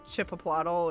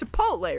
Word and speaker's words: chipotle: can hear gear hero you know how people make fun of how chipotle is pronounced and they say like chip a plottle or chippito or you know they they do it for fun that's the way i